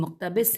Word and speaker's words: مقتبس: ہم ہجے کرتے ہیں، میم پہ پیش ہے، میم قاف تے بے سین، مقتبس ہیں، کیونکہ دراصل یہ ملک